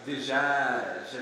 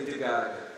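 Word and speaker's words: دجاج: Dijaj, if you pronounce it in the Levantine style, not Egyptian. Of course, it means chicken. That's what that word means, dijaj, chicken. In Egypt, they would say digag, not as pretty.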